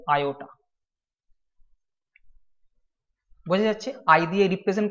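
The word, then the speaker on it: iota: হয় ছোট হাতের আই এটাকে বলা হয় আয়োটা আই ও টি এ বাংলায় যদি উচ্চারণ করো সেটা হবে আয়োটা বোঝা যাচ্ছে আই দিয়ে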